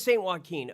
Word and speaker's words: Saint Joaquin: It is St. Joaquin.